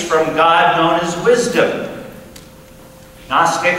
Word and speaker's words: Gnostic: God known as wisdom Gnostic and it's spelled with a g kosis in Greek is